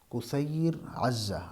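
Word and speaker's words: كثير عزة: نام تھا کثیر عزہ، جسے کثیر یا کثیر وغیرہ پڑھا جاتا ہے، یہ اصل میں اس کا تلفظ ہے کثیر عزہ۔ عزہ ان کی ایک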